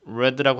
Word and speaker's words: read: 근데 발음이 달라요. 이건 read라고 읽어요. read. 읽다는 read인데 반해 읽었다 하면 read. 우리가 보통 붉은색 할 때 이렇게 하잖아요. 발음을 red라고 하잖아요. 같아요. 이것도 read.